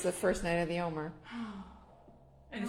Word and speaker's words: Omer: So We usually pronounce what she's talking about as Omer, like the counting of the Omer.